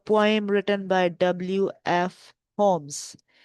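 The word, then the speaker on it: Holmes: This is a poem written by डब्ल्यू एफ होम्स। इसमें L students silent है डब्ल्यू एफ होम्स।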